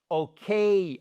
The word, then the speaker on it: OK: OK. OK. Déjà, vous avez un accent tonique sur le K et c'est pas un qu d'accord comme le quai le quai de gare, c'est un K.